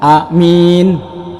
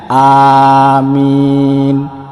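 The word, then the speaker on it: آمين: ini artinya jujur terpercaya Nah kalau alifnya panjang mimnya panjang ini baru benar Nah jadi yang saya contohkan bacanya amin amin Nah jadi huruf alifnya itu panjang mimnya juga panjang itu artinya Allah mengabulkan doa ataupun Ya Tuhan kabulkanlah doa kami jadi jangan sampai kita salah untuk mengucapkan kalimat Amin saudara dan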